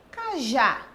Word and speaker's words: cajá: Cajá. Nós estamos falando da oxítona, certo? Aqui no caso, porque a palavra cajá, ela termina em a e a última sílaba é a tônica.